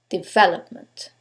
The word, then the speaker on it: development: syllable takes the stress is it the first one development is it the second one development the third one development or the last syllable development in this case is the second syllable development now you couldn't know